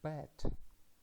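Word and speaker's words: בית: The first consonant is beit, and it is pronounced as B. After that we have matres lectionis, tsere yod, which is pronounced as e. And the final letter is tav, T. And we can read this word as bet, and the meaning is a house of somebody.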